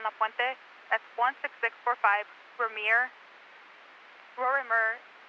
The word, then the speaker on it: Rorimer: That's 16645 Vermeer, Rorimer, phonetically spelled Robert Ocean, Robert Ida, Mary Edward Robert Street in La Puente.